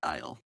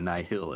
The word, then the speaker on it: Nihil: To me, one of the best of which is our new villains, the Nile, or the Nihil, as they're pronounced in the audiobook.